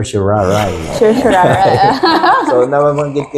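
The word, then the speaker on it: Sharia: yan sa law school ang pronounciation daw diyan sa sir shari ay hindi sir shari kundi Sir sharay Sir Shar so nababanggit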